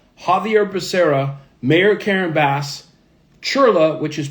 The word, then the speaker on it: Chirla: Senator Adam Schiff, Xavier Becerra, Mayor Karen Bass, Chirla, which is pronounced c h i r l a, the